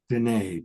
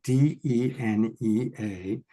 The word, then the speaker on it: Denea: Now that's spelled Denea. Denea, Denea, rhymes with Renee.